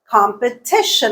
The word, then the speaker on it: competition: had already looked at competition okay where is the stress competition it's on the third Sy not the first not the fourth here's another example investigate